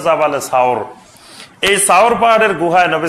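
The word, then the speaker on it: جبل ثور: নূর আর জাবালে সুর, এই জাবালে সুর বা এটা শুদ্ধ উচ্চারণ হলো জাবালে সাওর, এই সাওর পাহাড়ের গুহায় নবী সাল্লাল্লাহু আলাইহি ওয়াসাল্লাম অংশ ছিলেন, 3 দিন ছিলেন।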